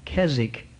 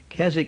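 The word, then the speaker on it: Keswick: Jenkins he was what we call a Kazakh men Kazakh is spelt ke SWIC K most Americans don't know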